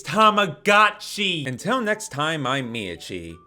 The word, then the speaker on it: Tamagotchi: It's not pronounced tomagoi, it's goti.